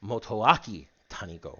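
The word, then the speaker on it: Motoaki Tanigo: it wrong more than once Yo's name is motoaki Tano or Tano motaki if you want to go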